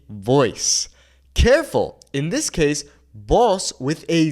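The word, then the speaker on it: voz: In this case, boss with a Z means voice. Whereas boss with an S means you. The pronunciation is exactly the same, but we understand the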